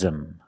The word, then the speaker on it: him: the pronunciation he loves them loves them the H in him is silent so you link the words loves them he loves them like